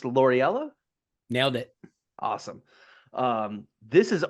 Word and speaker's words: Loriella: Is it pronounced Loriella?